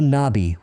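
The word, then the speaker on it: نبي: In Arabic, it's pronounced Nabi as well.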